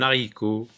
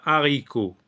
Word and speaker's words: haricot: un rhinocéros dehors un haricot un haricot donc on fait pas de liaison lorsque c'est un hache aspiré donc on dit un un haricot on dit pas un haricot un haricot un haricot